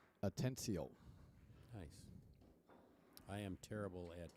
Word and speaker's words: Atencio: How do you pronounce Jesus's last name? Atencio.